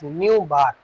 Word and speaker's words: nu bar: It is pronunciated as nu bar.